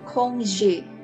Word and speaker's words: congé: Ini dibacanya congé.